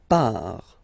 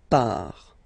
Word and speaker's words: part: Il, elle, part, final T not pronounced, il, elle, part, okay, so you can